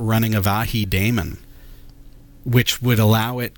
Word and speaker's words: avahi: like send server one is maybe not running avahi daemon which would allow it to respond by